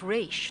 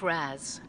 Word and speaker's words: Ra's: Terry, though father's name was pronounced Ra's, not Raz. A common mistake.